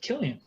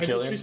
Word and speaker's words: Cillian: His name, how do you actually pronounce it? Killian. Is it Killian?